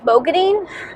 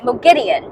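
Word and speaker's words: Moghedien: Let me say that in the last audiobook, the narrators were pronouncing Mo Gideon's name as Mogadine, and so I started saying that because I thought that was the right way to say it, but in this book, they're saying that it's Mo Gideon. So now I'm going to try to say Mo Gideon.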